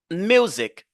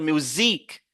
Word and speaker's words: music: cette syllabe là ici nous avons music Music regardez aussi Music vous voyez l'apostrophe n'oubliez pas ça music music on ne va pas dire musicque non on va pas dire musique on va pas dire